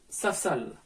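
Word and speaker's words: ספסל: Autre cas, dans le cas où le jva ne va pas se prononcer, par exemple, dans le mot safsal. Ici, le jva ne se prononce pas. On dira saf-sal.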